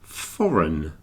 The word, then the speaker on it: foreign: is most unusual the word is foreign just pronounced foreign so if you take out the i in